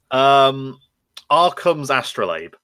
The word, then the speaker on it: Arkham's Astrolabe: That's the one I can't pronounce. Would you like to try it for the audience at home? Arkham's Astrolabe.